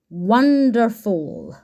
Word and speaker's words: wonderful: in this word the letter O is making a completely different sound to any of the sounds that it should be making in this word it sounds like a okay n d f o when we need the letter U to sound like o in our coding we we put a cap on it l so let's try those sounds again w a n d f one wonderful wonderful w f wonderful okay and then we